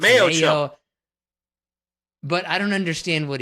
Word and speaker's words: Mayochup: Mayochup. What is it? Mayochup? Mayo and ketchup mixed? In a chip? Is it mayo chip? It's Mayochup.